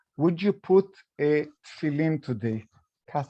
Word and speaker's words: tefillin: They would stop you and they would say, would you put a tefillin today?